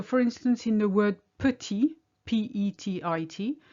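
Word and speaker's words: petit: instance in the word putty p-e-t-i-t you have a t on the end it's silent you say putty if there's an e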